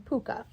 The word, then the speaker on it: pwca: The Welsh call him paca pwca which is pronounced as the oh pronounced as the same as his Irish condition puka.